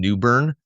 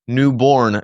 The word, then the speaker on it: Newborn: crop culture Farm in Newburn or Newborn Georgia depending on how you say it I've gotten some